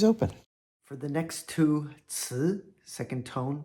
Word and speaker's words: 词: Our next second tone 词, it means word.